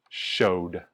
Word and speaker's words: showed: let's keep going show the last sound is oh oh and we feel it vibrate so we know that the pronunciation is showed showed he showed me